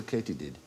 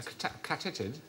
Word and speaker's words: katydid: Why might they be called a katydid? A catitid? No, it is actually pronounced katydid.